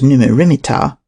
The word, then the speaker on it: Neb-mat-ra-mer-ptah: Another possibility is that it represents Amenhotep III, Neb-mat-ra-mer-ptah, pronounced as Numu-rimit-ptah, which may be shortened to Neb-mer-ptah or Mer-neb-ptah.